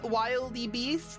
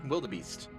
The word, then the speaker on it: wildebeest: And of course, everybody is like, "Ooh, wilde- wild-e-beast? Like wily coyote?" I was like, "It's wildebeest."